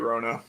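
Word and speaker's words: Wrona: you guys i liked rhona i like that w-r-o-n-a oh okay i was like wait a second like yeah roano with the silent w rona that was he south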